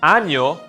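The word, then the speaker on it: año: might change the entire meaning of the word anjo means year ano means anus felizano nuevo means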